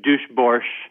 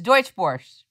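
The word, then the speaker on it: Deutsche Börse: Kim, you mentioned earlier about the New York Stock Exchange, being bought by, I can't pronounce this correctly. Duschbörse is what I'm going to say. Deutschbörse. It's Deutschbörse. Deutschbörse.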